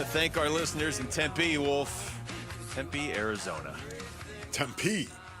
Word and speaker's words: Tempe: Some people say Tempe. You don't want to You don't want to say it like that though, do you? You want to say Tempe? Correct. Yes. Tempe.